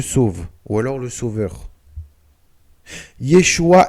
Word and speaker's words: Yeshua: Yeshua est la contraction de Yehoshua. Malgré que cela s'écrit presque de la même manière, Yeshua et Yehoshua sont totalement différents.